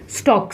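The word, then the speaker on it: stalk: लिए एक टर्म है स्टॉक लाइक एल साइलेंट है स्टॉक स्टॉक यानी पतला सा ट्यूब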